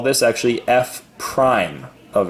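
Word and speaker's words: f′: So he didn't say that in the video, but I would write it down that this is pronounced f prime, like a prime number almost, f prime of x.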